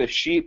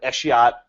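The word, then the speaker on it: escheat: so there's this phrase i've heard it pronounced different ways you said a sheep which is fine i've heard other people say eshiot i i say it both ways depending what i feel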